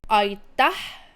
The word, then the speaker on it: aitäh: Aitäh teile. Same thing, aitäh is when your tongue goes up.